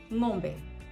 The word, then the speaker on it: ng'ombe: And examples of nga are ng'ombe, which is cow in Kiswahili.